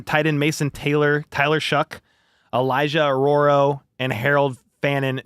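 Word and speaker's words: Shough: today that he wouldn't be surprised if Tyler Shuck is his name. Crazy pronunciation, but if Tyler Shuck went actually went ahead of Shador Sanders.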